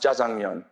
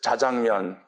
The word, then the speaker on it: 자장면: Like, for example, I couldn't figure out why in the world jjajangmyeon is pronounced jjajangmyeon. Because it's jjajangmyeon.